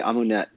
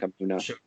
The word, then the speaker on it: Amunet: Yeah, people say Amunet, but the U vowel is actually coming from the Coptic pronunciation of Amun. So it's that name Amunet is a blend of both pronunciation systems, creating just even worse nonsense than either one of them alone. Her name would probably be something like Amuna.